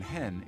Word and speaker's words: hen: Aya for she and in Swedish the pronoun hen is gaining ground as a neat compromise in pronunciation between Han for he and hon for she but some languages are